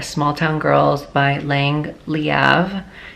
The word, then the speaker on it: Leav: town Girls by Lang leav that is how you pronounce her last name okay I know it sounds like it could be leave but it's leav she has said it